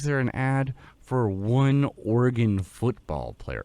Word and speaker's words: Oregon: the hell is there an ad for one Oregon football player like Oregon I don't even think